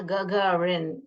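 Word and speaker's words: Гагарин: गगारिन कैसे pronounce करने का? जी, गा गा है ना, गगारिन।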